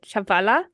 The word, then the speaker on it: Chihuahua: on how to pronounce the name they actually pronounced it chavala okay that that okay right um but my